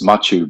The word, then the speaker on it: Machu: right from now onwards that's pretty close actually it's it's Machu but um but I